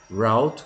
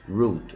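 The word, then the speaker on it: route: da Rota toro distância você pode pronunciar tanto haute quanto Road existem as duas pronúncias o 7979 km a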